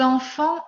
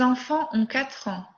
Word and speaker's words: enfants: Ces enfants ont 4 ans. Ces enfants, je ne prononce pas TS final. Je ne prononce pas S final.